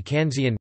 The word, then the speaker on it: Kanzeon: In Japanese, Guanyin is pronounced Kanan, Guan Yin occasionally Kanan, or more formally Kanzian, Guan Shi Yin, the same characters as Guanxian.